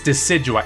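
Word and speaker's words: Decidueye: we are heading what how do you pronounce that de kid UI decidua oh it's decidua okay the fully evolved form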